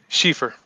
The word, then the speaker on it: Schieffer: Schieffer.